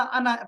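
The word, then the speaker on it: أنا: अच्छा, अना को हमेशा अना पढ़ा जाता है, यानी आखिर में जो अलिफ होता है ये नहीं होता, साइलेंट है, अना।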